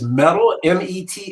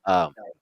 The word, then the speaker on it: Mattel: And did you say the company name was Metal? Metal, or how do you spell it? No, Mattel. Mattel. Oh, Mattel. Yeah. Oh, No, that's Mattel. Yeah, it's Mattel.